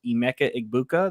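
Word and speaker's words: Emeka Egbuka: Cannon falls back to the 709 and grabs Emecha Igbuka.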